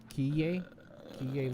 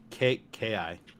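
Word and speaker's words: Keye: Do we know how to pronounce that? Kiye Luke?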